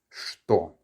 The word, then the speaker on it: что: Whenever you see the letter ch followed by some sort of consonant, often, but not always, it actually sounds like a sh, okay? So it's что.